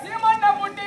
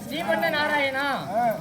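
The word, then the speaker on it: ஸ்ரீமன் நாராயணா: பாதத்தை நான் வணங்க வேண்டும் உன்னுடைய பெயரை சொல்லி நான் உச்சரிக்கிறேன் தவறாக இருந்தால் என்னை மன்னித்தருள வேண்டாம் சாமி சொல்ல வேண்டுமா சொல்லுங்க சுவாமி ஐயா சீமன்னு வாயா என்ன ஸ்ரீம நாராயணா அப்படி சொல்றா தெளிவா என்னவென்று தெரிவித்தாய் ஸ்ரீமன்ன ஸ்ரீமன்ன நாராயணா ஸ்ரீமன்ன நாராயணா கோவிந்தா ஸ்ரீமன்ன நாராயணா கடலக்கறாங்க அப்படியா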